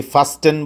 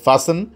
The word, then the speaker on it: fasten: 6 নম্বরটা হচ্ছে ফাসেন, বানানটা হলো FASTEN, যথারীতি ফাস্টেন বলা যাবে না, বলতে হবে ফাসেন।